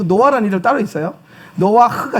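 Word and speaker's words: נֹחַ: 노아흐가 정확한 발음이에요. 노아흐.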